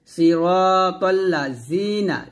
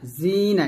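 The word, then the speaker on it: صراط الذين: নিচের দাঁতে লাগাবেন না সিরাতাল্লা জিনা জিনা এটা বলা যাবে না এটা ভুল বলতে হবে জি পাতলা করে সিরাতাল্লাজিনা হামজাহ নুন জবর আন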